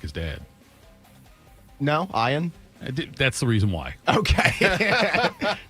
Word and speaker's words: Ian: No, Ian. That's the reason why. Okay. Just You're Ian.